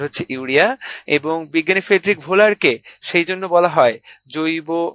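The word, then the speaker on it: Wöhler: ভোলার উচ্চারণে আমরা ফ্রেডরিক ভোলার বলবো।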